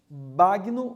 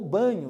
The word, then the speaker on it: Bagno: É uma entrevista com Marcos Bagno ou Banho, depende aí, as pessoas usam essas duas pronúncias por Marcos.